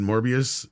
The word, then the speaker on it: Morbius: like it's Vertical Horizon morbius was glorious because it rhymes with glorious yes that's right I